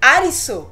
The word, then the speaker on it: Alice: de voltar para realidade Alisson Inclusive é o jeito que os japoneses pronunciam o nome Alice toda a presença das